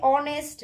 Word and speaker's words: honest: them aloud we say honest knee and wrong respectively we do not pronounce the letters h k and w in this words so these letters are